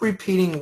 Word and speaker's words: repeating: wheel if we keep repeating wheel I'll put it down here there you go if we keep repeating will good repeating repeating repeating make sure the accent goes on the P if we if we